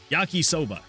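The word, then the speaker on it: yakisoba: Yaki rhymes with taki, which as in teryakoba is similar to soda. Yaki soba.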